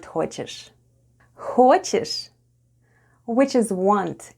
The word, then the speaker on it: хочешь: Soft sign doesn't affect the way we say the word ХОЧЕШЬ /hhochesh/: /hhochesh/...